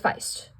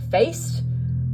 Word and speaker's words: Faist: Okay, so number 3 is Mike Feist, which for years I have mispronounced his name as Mike Faist, until, like, the beginning of this year. I figured out it was Mike Feist and not Mike Faist, and I was like, oh my gosh, I've